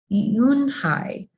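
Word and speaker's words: Unhei: turned to joey she nodded slowly yes it's pronounced and it means grace mr kim added yoon hi joey said slowly and this time perfectly with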